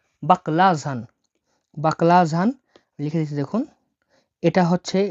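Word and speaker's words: баклажан: এই অক্ষরটা অক্ষরটা যে এইচ বা ঝ এর মত উচ্চারণ হয়ে থাকে তাহলে বাকলাঝান বাকলাঝান বাকলাজান মানে হল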